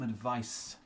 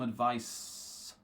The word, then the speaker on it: advice: is different okay so the noun has the S pronunciation and the verb has the Zed pronunciation okay so so far